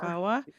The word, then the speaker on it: VAWA: Daka travel documents vawa is that how it's pronounced yes aawa vawa and the fiance visa Green Card change of